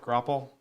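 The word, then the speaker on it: graupel: It wasn't actually snow because it was like big balls of Grapple? sleety. Is that how you pronounce Yeah. it? Grapple?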